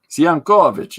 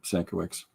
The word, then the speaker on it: Sienkiewicz: Sienkiewicz is how the traditional pronunciation would be, but his family's anglicized it, so. Definitely on my list, Sankiewicz.